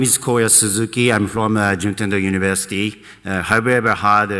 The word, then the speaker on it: Juntendo: I'm from Juntendo University. Have you ever heard Juntendo? No? Have you ever heard Nintendo company, right? Actually, Juntendo and Nintendo pronunciation really similar, but a big difference.